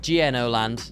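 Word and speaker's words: gno.land: have no bloody idea how to say it gno land let's start using normal bloody words for these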